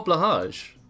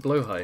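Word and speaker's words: Blåhaj: little shark plushy oh blage yes wait is it blo high in Swedish yeah God I've been mispronouncing it all these years I'm I've been calling it blage cuz it's blage no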